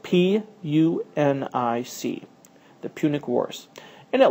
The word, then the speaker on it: Punic: The struggle between them became known as the Punic Wars. And that is spelled P U N I C.